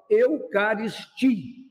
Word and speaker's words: Eucaristia: Porque a sílaba forte é essa aqui, ó. Eucaristia.